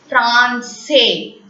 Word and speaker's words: français: When you place S below the alphabet C, that C will be pronounced as S. Garçon, garçon. Français, français.